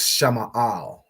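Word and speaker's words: שמאל: So Sha is separate, Ma'al. Okay, so Sha Ma'al, Shama'al. Shama'al. Right?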